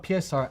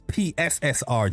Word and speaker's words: PSSR: FSR and PSR actually come from Hold on. It's PSSR, Jack, not PSR. You heard Jack? He said PSR. Come on, man. It's PSSR. Say it right.